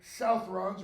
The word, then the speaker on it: Southrons: The swarthy men in red are Southrons, or Southrons if you want to pronounce it that way, men from the far south who are now fighting up in Gondor, Ithilien at least.